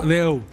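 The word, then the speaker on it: d'Eu: ¿Cómo se pronuncia? Deu. Deu.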